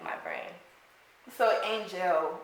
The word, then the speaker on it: Angelle: like my brain so angel why not angel like what was the difference between those two my my mother chose to pronounce it that way she gave me that's